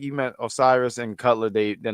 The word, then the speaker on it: Osiris: Uh is it or I'm sorry it's not Otis. What? How do you say this gentleman? Osiris.